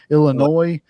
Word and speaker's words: Illinois: Illinois. You don't pronounce the S, dude.